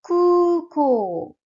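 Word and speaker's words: 空港: Si tu regardes bien, le U et le O ont un chapeau. Kuko. Ces chapeaux indiquent qu'il faut que tu allonges le son du U. C'est un U long et un O long.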